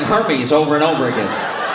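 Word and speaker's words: Hermès: Spent money on Hermes. I didn't even know what Hermes was. Luxury bags. Hermes. They're Yeah, they're Hermes. Hermes. It's pronounced Hermes.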